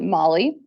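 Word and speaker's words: moly: But it literally is called Molly, and that's how it's pronounced.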